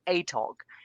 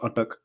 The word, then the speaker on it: Urtuk: Because many people call it ATOG, and they yeah, probably wouldn't understand. yeah. I think maybe people have thought of spelt attack wrong or something like that, but no, it's Urtuk. Yeah, so it's pronounced Urtuk, and this was Urtuk